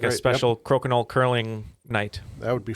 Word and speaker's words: Crokinole: But he mispronounced the name. He said it was called Cork and Hole.